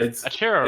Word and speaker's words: Acheroraptor: Archaeoraptor. It's Acheroraptor. It's actually, I mean, it's supposed to be Acroraptor.